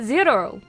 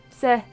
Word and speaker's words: cero: But zero. They pronounce zero with a Z. Don't they? Oh no, it's spelled with a C. Right. Zero. Se. Not ze. Se.